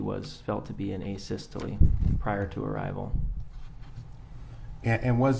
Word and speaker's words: asystole: and have you explained to the jury uh a systole i think is called um am i pronouncing that right by the way asystole yeah